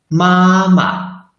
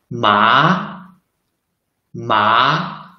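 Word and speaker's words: 妈妈: Like the first one, we should read mama, mama.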